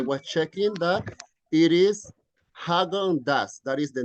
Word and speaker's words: Häagen-Dazs: So don't worry, we don't know the pronunciation. However, I was checking that it is Häagen-Dazs. That is the name of this one. Häagen-Dazs.